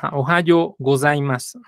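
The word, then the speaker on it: おはようございます: de la grabación bien Recuerden que el H no es muda la H se pronuncia como y la z es un es un dz Ohio gozaimas y la u es muda A Ohio gozaimas muy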